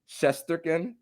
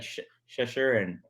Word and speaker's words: Shesterkin: Mikko Rantanen, Igor Shesterkin. No, you just said it right. He said he did not. He said like Shesherin or something. Shesherin. Shesherin, that's what it was.